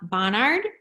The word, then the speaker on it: Bonhard: Bonhard.